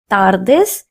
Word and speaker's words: tardes: Notice that I am not pronouncing the letter t in Spanish as stir. nor am I pronouncing the letter D as duh. In Spanish, these two letters are pronounced as tu and the respectively. That's why I'm saying buenas tardis and not tardis.